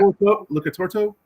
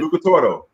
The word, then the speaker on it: Lucatoro: Lucatorto? I think I'm saying it right. Lucatoro.